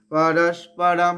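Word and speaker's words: পরস্পরম্: ওটা হ উচ্চারণ হবে পরস্পরম পরস্পরম এখানে অনুস্বরটা ব্র্যাকেটে লিখে রাখুন ম এর উচ্চারণ হবে পরস্পরম ম এর অর্ধেক মানে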